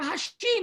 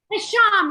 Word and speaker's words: Hasham: Let's hear it for Hashim. And I keep pronouncing it wrong. Hasham, right?